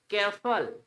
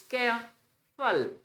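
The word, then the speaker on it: careful: के साथ जुड़ता है केयरफुल केयरफुल न इट्स केर फल ब्यूटी फुल फल डट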